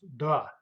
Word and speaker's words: до: And in speech it's pronounced as да.